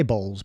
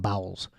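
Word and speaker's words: Bowles: Parker bowels bows bowels they say bows but it's spelled bowels so I'm just going to go with bowels so Camila bowels and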